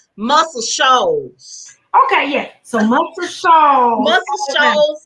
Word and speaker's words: Muscle Shoals: me pronounce his name muscle shoes alabama muscle shoes s-h-o-a-l-s oh girl that's another jet that's another one of my jasper spots i love it's called muscle shoals okay yeah so multiple